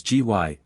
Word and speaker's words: Gy: the singular with man the word for woman is gy pronounced hard as in guy it forms itself into